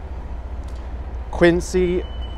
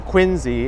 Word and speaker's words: Quincy: it out it's actually my first time here Quincy I mean quiny it's actually pronounced quiny for some reason even though the